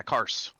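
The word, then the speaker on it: Karse: background it's cars yeah cars is that how you say it yeah cars c-k-a-r-s-e cars i grew up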